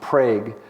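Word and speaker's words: Prague: a magnitude 5.7 earthquake the locally pronounced prag earthquake in Oklahoma had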